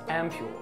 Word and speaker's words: ampoule: this word is pronounced as ampule ampule means a small